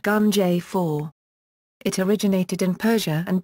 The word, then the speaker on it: Ganjifa: This was called Ganjirfa, pronounced Gunjay-4.